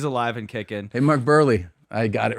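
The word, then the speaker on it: Buehrle: So Mark Burley, is it Burley? It's Burley. These guys literally wrote a pronunciation.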